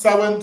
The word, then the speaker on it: Samhain: ha so it's about Sam ha but it's pronounced sin so that word is sa sin yeah go